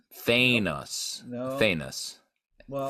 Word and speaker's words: Thanos: Thanos. No. Thanos. Well, Thanos, like anus.